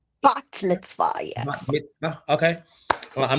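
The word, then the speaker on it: bat mitzvah: bot mitz is how you say is it bot Mitzvah bot Mitzvah yes okay I'm not gonna I'm say I'mma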